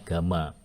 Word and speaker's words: gamma: Kemudian ukuran lainnya berat jenis atau spesific eh tulisannya hampir Y ya. Kita bacanya gamma.